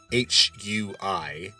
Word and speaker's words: Yan Hui: man named Yan Hui, Yanhui, and in the pinyin system, that would be pronounced Yan Hui.